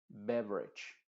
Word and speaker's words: beverage: diccionario diríamos syem System beverage bage beverage no se dice con una e muy clara sino con una lo mismo pasa como